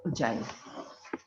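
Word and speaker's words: ogive: और हमने पढ़ना है ग्राफ, एक उजाइव। एक ग्राफ का नाम क्या है, उजाइव। स्पेलिंग में तो कुछ अजीब सा लग रहा है, ओगिव लग रहा है, लेकिन ओगिव नहीं, इसको बोलते हैं उजाइव, ठीक है।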